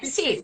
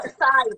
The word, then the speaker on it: psi: Psi, Psi, psi. psi, Psi ou Psy, tanto faz, dependendo da do pronúncia.